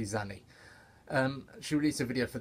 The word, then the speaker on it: Xanny: I think it's called Zanny, but it's spelled, the first letter spelled with an X-A-N-N-Y, so I'm just gonna say Zanny.